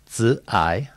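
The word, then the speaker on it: 慈: And I'm told, and my Mandarin is not very good, that this is pronounced zi, and it says that it is growth in heart and mind that are essential ingredients of compassion.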